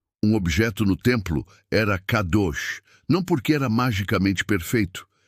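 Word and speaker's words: קדוש: Para aprofundarmos neste conceito, precisamos conhecer a palavra hebraica para santo, que é kadosh, se pronuncia kadosh.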